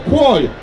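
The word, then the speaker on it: קול: In Hebrew, the word for vote is koil. It's spelled K-O-L, but it's pronounced Q-O-L, koil.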